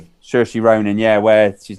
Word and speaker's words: Saoirse: Saoirse Ronan, where she's like the secret eight, always trained, and she's one.